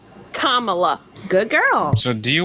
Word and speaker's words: Kamala: So Kamala always has said That's not how you say her name. Kamala. Kamala.